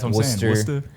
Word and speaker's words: Worcester: Worster.